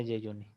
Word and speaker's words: jejuni: De Yeyuni, se pronuncia Yeyuni.